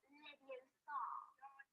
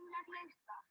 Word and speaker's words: Leviosa: Besides, you're saying it wrong. It's Leviosa, not Leviosa. You do it then if you're so clever. Go on. Wingardium Leviosa.